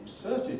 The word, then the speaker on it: insert: of paper that's been inserted in it this is called an insert and it has cert with strong earth in its second syllable compare that with going